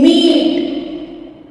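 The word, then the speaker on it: meat: एक साथ होते हैं तब आमतौर पर फर्स्ट वॉल लॉन्ग साउंड देता है और सेकंड वॉल साइलेंट होता है जैसे एम ई ए टी अब इसमें फर्स्ट वॉल है ई और सेकंड है ए तो जब ये दोनों साथ में है तो फर्स्ट वाला वॉल लॉन्ग साउंड देता है और सेकंड वॉल साइलेंट होता है यहां पर हम ई का ही साउंड यूज करेंगे जैसे एम ई ए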